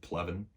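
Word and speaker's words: Pleven: of this was the battle of plevin uh at least i believe that's how you say it p-l-e-v-e-n seems pretty simple but i've been wrong before but this battle convinced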